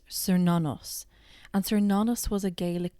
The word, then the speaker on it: Cernunnos: This is pronounced Cernunnos.